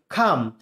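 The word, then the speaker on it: calm: খাম শান্ত করা বা শান্ত হওয়া, খাম, কামনা, খাম। এখানে এল যে অক্ষরটি আছে এটি সাইলেন্ট লেটার, এটি উচ্চারণ করার দরকার নেই, সো এটা হবে খাম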